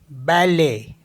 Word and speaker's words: balai: तो जैसे LAIT, तो इसको पढ़ते हम ले, ले, क्योंकि यहाँ पे टी साइलेंट होता है। तो ये हो गया ले, मिस होता है मिल्क। नेक्स्ट है BALAI, बैले, बैले मिस होता है ब्रूम।